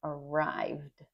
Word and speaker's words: arrived: Keep in mind that it's not arrived, right? Not arrived. It's arrived. That's a hard one. arrived with a d a d sound at the end.